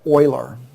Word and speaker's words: Euler: a guy named leonard euler his last name is spelled and even though you say euler it's spelled this way e-u-l-e-r what do you think